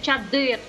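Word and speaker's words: чадър: В болгарській мові є твердий знак, він називається «ергулям». Енгулям? Ергулям. Ергулям. Ергулям. Він читається як наше українське чадир.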